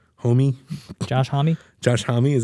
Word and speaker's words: Homme: Josh Homme? Homie?